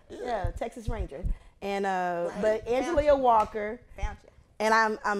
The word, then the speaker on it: Angelia: Spell that Spell for it for them. me. That's how they'll get that. It's Angelia.